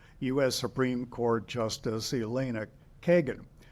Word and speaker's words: Kagan: And he said, I pronounced it as they do in Spanish, in Kagan. And if you, anyone who is watching this who knows Spanish will realize that, no, you don't pronounce it Kagan.